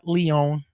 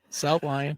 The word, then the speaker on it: South Lyon: Spelled with a Y. It's not Lyon. It South Lyon.